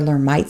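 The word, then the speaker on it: Lhermitte: patient has a positive or made sign or learn might sign i've heard it pronounced both ways some people call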